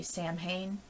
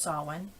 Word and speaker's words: Samhain: And then there's Samhain, which most of you would look at that word and say Samhain, but no, it's pronounced Samhain.